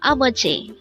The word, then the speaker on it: 아버지: 아버지, 아버지. Again, our word for today is 아버지.